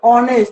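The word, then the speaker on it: honest: হব কি হব এন আইব তার মানে এ উচ্চারণ কি হইছে অনেস্ট এটু হনেস্ট হয় এটু কি অনেস্ট এটু হনেস্ট ন হয়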